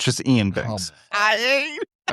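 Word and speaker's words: Iain: It's Ian. I I know it looks weird with the two eyes, but it's just Ian Banks.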